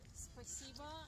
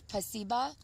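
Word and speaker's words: спасибо: In Russian, it's spasiba. In Ukrainian, it's дякую. In Russian, it's spasiba. Yeah, and in Ukrainian, it's дякую. That's completely different. It is different. Russian, it's spasiba, and Ukrainian, it's дякую.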